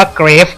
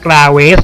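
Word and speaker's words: Graves: ทั้ง 2 คน เลย เกฟ อ่าน ว่า เกรฟ ไม่ ต้อง มา กราเวส หรือ กราบ ทั้ง นั้น ครับ แชมเปี้ยน คน ถัด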